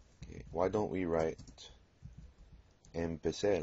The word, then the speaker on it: empecé: pronounce it incorrectly, but I told you that Z sounds like S. So it doesn't sound like a Z in English, it sounds like S. Yo empecé, tú empezaste.